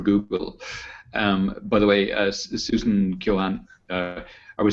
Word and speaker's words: Keohane: We'll go with the American pronunciation. Keohane. I know it's originally an Irish name, but yes.